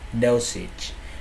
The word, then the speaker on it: dosage: Đấy, nhớ nhá, nó có thể đọc là massage hoặc là message. Sorry, massage. Đấy nhá. Chứ không nói là không nói đuôi cái này là each đâu nhá. Đọc như như thằng massage luôn.